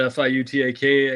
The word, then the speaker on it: Fiutak: Fiutak, as it's spelled, like nobody can spell it, but Fiutak, and College Football News on the X machine.